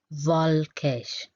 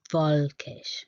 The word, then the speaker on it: wolkig: So pay attention in German, the W, okay? So we call it V, okay? So it is pronounced V, V, V. This is the sound of the letter W in German. It's not W, it's not wolkig, it's wolkig, wolkig, wolkig.